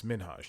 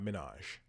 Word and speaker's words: Minhaj: his last name and how it's minage not Minaj that's how people have